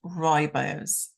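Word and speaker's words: rooibos: so this is is royo's T and this is actually spelled r o o i b o s but it's pronounced Roy bows so this comes from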